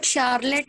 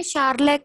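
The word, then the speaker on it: Sherlock: ये देखिए, शार्लक, LOCK, luck, शार्लक।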